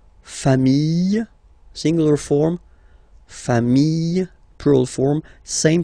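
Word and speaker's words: familles: put this s okay final s not pronounced fam singular form fam plural form same pronunciation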